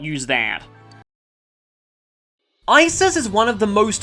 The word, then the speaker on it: Isis: why not use that isis is one of the most iconic egyptian gods though recent studies have found that her name was originally pronounced more like usart and later eset she gained the name